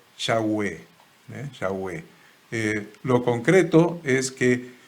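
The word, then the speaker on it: Yahweh: las biblias por ejemplo la versión reina valera dice jehová y actualmente se consideran que la pronunciación en aquella época más exacta debía haber sido yagüe echagüe lo concreto es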